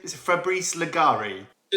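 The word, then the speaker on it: Leggeri: Is it Fabris Legari? Yeah, Fabris Leger or Legeri because I think his ancestors are Italian. So Legeri should be the right pronunciation.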